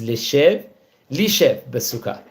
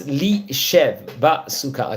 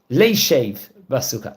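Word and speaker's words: לישב בסוכה: The proper pronunciation of the bracha while sitting in Sukkah is lishev b'sukkah. Pronounce lishev b'sukkah. Okay, you're going to have to look at the article itself because I don't want to mistake over here and then be culpable for that. Unlike Ashkenazi custom to pronounce a bracha as leishev basuka.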